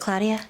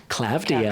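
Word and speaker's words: Klavdia: I feel like Claudia is just Is it Claudia? Clavia. Clavia. Okay.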